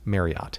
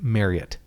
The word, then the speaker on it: Marriott: you're supposed to pronounce marriott is marriott i just learned this i read something that it's like harriet but marriott because of the family name anyway but uh it